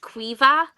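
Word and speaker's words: Caoimhe: It's pronounced Quiva, so Quiva. It doesn't look like any of the letters don't seem to matter, but it's just because Irish only has 18 letters, so there's no Q or V in Irish, so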